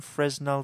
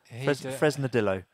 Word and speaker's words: Fresnadillo: it's Juan Carlos had to say his name Fresnel did although Fresnadillo yeah do you know the guy no is